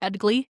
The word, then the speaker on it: Edgli: It's pronounced Edgli, by the way. Word straight from Brandon, so don't come at me about that. It's pronounced Edgli.